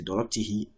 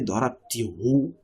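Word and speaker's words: ضربتِهِ: So darabtihi, you can't say darabtihu, it is not correct.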